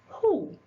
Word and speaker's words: who: Again, there are some common words where it can be silent when you say who.